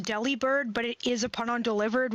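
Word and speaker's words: Delibird: No, that I'm pretty sure it is pronounced deli bird, but it is upon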